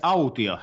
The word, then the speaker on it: Autio: your last name pronounced it's out here so almost like audio but with the T so out here Altea